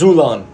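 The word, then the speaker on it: ξύλον: It's pronounced Zulon.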